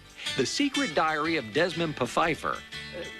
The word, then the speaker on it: Pfeiffer: The Secret Diary of Desmond Pfeiffer. The P isn't silent. Yep, see, I wasn't mispronouncing that name.